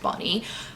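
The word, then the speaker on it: Bahni: turpin b-a-h in i which i think is pronounced bonnie um and she is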